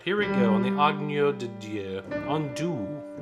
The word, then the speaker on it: Agneau: There's no hard G on og. It's not an og, anything like that. It's like if you're saying onion, onyo, onyo, nya. Okay? There's a glide. 2, T. Agneau de Dieu qui porte